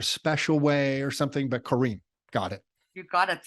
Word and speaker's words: Corrine: way or something but Kareem got it you got it that's the exactly spelled the French way with double r so yeah oh you're